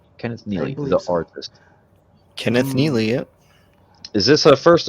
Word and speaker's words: Kenneth Neely: Is that what Am I pronouncing it right? Kenneth Neely. The artist. Kenneth Neely.